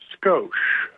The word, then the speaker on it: Skosh: Well, my name is Skosh. Skosh, very good. How do you spell that?